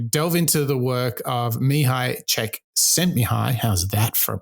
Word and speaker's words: Csikszentmihalyi: this opportunity to delve into the work of me hi check sent me high how's that for a pronunciation he's um really the pioneer of this